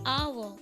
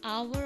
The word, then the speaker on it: hour: orange, the umbrella, the hour. In hour also, the sound of vowel not h, no? It is mute.